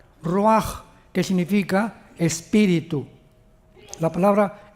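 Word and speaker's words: ruach: La CH en el hebreo es como J, Roach, que significa espíritu.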